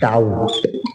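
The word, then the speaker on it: doubt: date के बाद है डाउट डाउट में बी साइलेंट रहता है डाउट इसमें बी साइलेंट है य डाउट बोलेगा डाउट के बाद अगला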